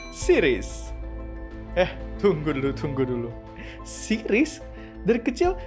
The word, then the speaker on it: Ceres: Bukan Ceres yang itu, tapi beneran planet yang dibacanya Sirius.